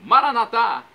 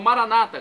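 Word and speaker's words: Maranatha: E agora do aramaico, dialeto de Jesus, eu clamo, Maranatá, como dizemos nós católicos, ou Maranata, como dizem nossos irmãos separados, os evangélicos ou protestantes. Não importa a pronúncia, o significado é o mesmo.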